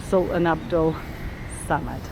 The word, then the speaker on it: Sultan Abdul Samad: Sultan Ahmed Samad, probably said very wrong, but quite an impressive looking building. Try getting the correct pronunciation now because it's right in front of me. Banginan Sultan Abdul Samad.